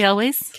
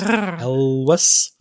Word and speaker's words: Elwes: And I don't know how to pronounce his name. Carrie Elways. Carrie Elwes. Elwes.